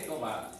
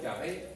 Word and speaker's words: Yahvé: están de acuerdo que la manera original y primitiva de pronunciar el nombre de Dios debe haber sido Yahvé y no Jehová.